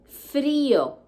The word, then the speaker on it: frío: Cold, or to be cold in Spanish, frío, with accent on the I. Frío. You don't say frío, you say frío.